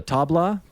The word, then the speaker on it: tabla: Yeah, you noted being drawn to the melodic nature of the tabla. Is that how you pronounce it?